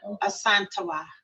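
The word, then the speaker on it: Yaa Asantewaa: I think it's Queen Asantawa. Asantawa. Yes, Asantawa. Yeah. Nice. Okay. It's kind of blurred. Let me see. I spell it. Queen Ya. Ya is Y-A-A. Asantewa is A-S-A-N-T-E-W-A-A. Oh, okay.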